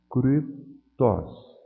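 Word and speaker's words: κρυπτός: Vejam que aqui o Y está isolado. Ele não é parte de um ditongo.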